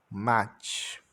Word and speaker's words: much: O U tem o som de A, o C e o H tem o som de TX. Much.